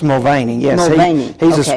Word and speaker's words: Mulvaney: Don't know for sure if that's the way to spell it, to pronounce it. I don't know if Jerry Davis knows or not for sure. It's Mulvaney, yes.